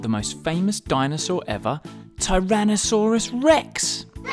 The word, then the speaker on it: Tyrannosaurus rex: learn all about the most famous dinosaur ever Tyrannosaurus Rex how do you say that again ty ran no saw Russ Rex it's often called t-rex for short though t-rex